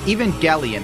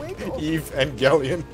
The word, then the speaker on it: Evangelion: Evangelion, the problem is, if you don't look into